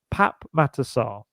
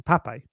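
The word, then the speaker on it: Pape Matar Sarr: So Pap Matassar, that is the correct way to say his name. However, he is the politest, loveliest young man, and everyone around the club has just called him Pape.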